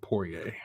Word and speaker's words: Poirier: And then we'll talk about McGregor and Poirier. So is that how you pronounce his name? Poirier?